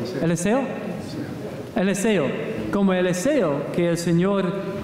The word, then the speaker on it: Eliseo: Eliseo. ¿Eliseo? Eliseo.